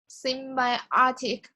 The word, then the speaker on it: symbiotic: paragraph to me again symbiotic relationship symbiotic relationship yeah see my college semiotic meiotic so see the way you should deconstruct the word symbiotic there are four syllables seen by our take okay so you work